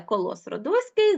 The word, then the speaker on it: Колос Родоський: зрозуміли Ну мабуть той хто знає що таке коло сродоський зрозумів адже Петрик допустив орфоепічну помилку він неправильно наголосив словом Колос Родоський Це статуя яка була